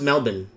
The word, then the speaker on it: Melbourne: And okay, so it's pronounced Melbourne.